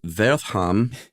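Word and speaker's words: Wertham: uh in that uh Wortham or vertham as you I think probably correctly pronounced thanks uh he kind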